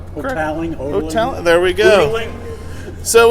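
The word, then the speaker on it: Hotaling: is that was the that's pronounced toweling hotel there we go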